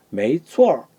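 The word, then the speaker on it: 没错儿: 이게 발음이 우어에 가깝다 그러죠. 우어에 가깝다 그러지 않았습니까? 그러니까 어에 건설 작용을 하는 거죠. 추어 이렇게 되죠. 추어. 자, 다 같이 메이추어.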